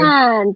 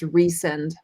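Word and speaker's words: Rhysand: Rysan.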